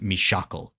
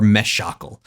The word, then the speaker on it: Mishakal: Uh, but it is in fact Mishakle. Uh, so or it could be Mishakle or Meshakle. Either way, the the shock is the uh is the is the the emphasized syllable there.